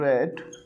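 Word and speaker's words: read: आपको had been been रेड रीड रीड की third form क्या होती है सेकंड फॉर्म भी होती है रेड थर्ड फॉर्म भी रे स्पेलिंग बिल्कुल सेम होती है रीड रेड रेड ट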